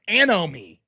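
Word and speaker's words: anomie: Let me pronounce it. Anomi. Does anyone know that word? Anomi. And then I had it in my head. Anomi is it's a n o m i e.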